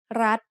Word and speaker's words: รัฐ: We pronounce รัฐ with a high tone because of the rule. Low class consonant with a dead ending and short vowel makes high tone.